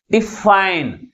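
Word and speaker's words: define: అంటే డిఈ తర్వాత సిలబుల్ ముందు ఉంచాలి ఓకే నెక్స్ట్ డిఫైన్ డిఫైన్ దీంట్లో ఎన్ని సిలబుల్స్ ఉన్నాయి టు సిలబల్స్ ఉన్నాయి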